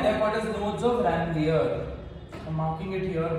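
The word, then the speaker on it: Ranvier: आप चाहते हो, लड़कियां चाहती है तो इसको रणवीर बोल सकते हो, बट रणवीर notes of रणवीर सुनकर रणवीर सिंह या रणवीर कपूर खुश नहीं होंगे, ठीक है, so let's not spoil our pronunciation, it इज रैनलियर, notes of रैनलियर, what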